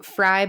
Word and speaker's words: Frey: Fry, by the way, is spelled with an E. It's Frey.